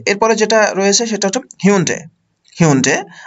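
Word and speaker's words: Hyundai: এরপরে যেটা রয়েছে সেটা হচ্ছে হিউন্ডে, আমার বাংলাদেশে এটাকে অনেক সময় বলা হয় হুন্দাই, উচ্চারণটা একটু ডিফারেন্ট, হিউন্ডে।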